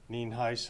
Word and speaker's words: Nienhuis: my name, so it's Nienhuis, and it is pronounced Nienhuis, and as you know, I'm the Sheriff of Hernando County.